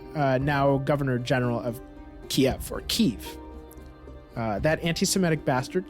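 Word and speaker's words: Kyiv: is the Russian pronunciation Kiev is the Ukrainian pronunciation and in 1881 Ukraine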